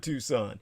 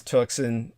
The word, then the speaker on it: Tucson: Smitty Schmid Jr., alias the Pied Piper of Tucson, an aftermath tour.